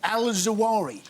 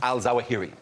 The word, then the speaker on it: al-Zawahiri: just do you nuts man called al-zawahri not a man al-zawahiri ya know if you're